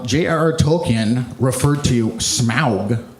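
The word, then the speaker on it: Smaug: JRR token referred to smow I say it like that cuz it's more fun and it's correct he says that smow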